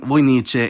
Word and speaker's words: vojnice: In particular, the vocative singular changes the k sound to ch, becoming vojnice, and most cases in the plural change the k to t, like the nominative, which is vojnici.